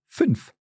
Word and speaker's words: fünf: Yes, for example, the number fünf. Fünf. Fünf. That's five, yeah? Genau. And it's quite a short.